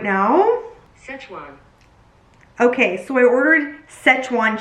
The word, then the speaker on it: Szechuan: I don't know how to pronounce this chicken, but let me look it up right now. Szechuan.